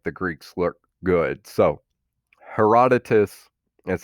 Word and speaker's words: Herodotus: So Herodotus is how this guy's name's pronounced, is the first true historian known in Western civilization.